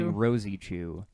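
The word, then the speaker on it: Rosechu: help us know that it's pronounced Rosa Chu Rosie Rosie Chu okay there's like a and the e is pronounced in there Edward one eight five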